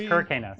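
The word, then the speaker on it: Kir Kanos: Apparently, I've gotten that guy's name wrong. Really? So it's Kirk Kanos.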